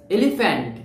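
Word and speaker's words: elephant: আমরা কোন ইংলিশ ওয়ার্ডে যদি পি এইচ পাই এটার উচ্চারণ কিন্তু এফ এর মত হয়ে যায় পি আর পি থাকে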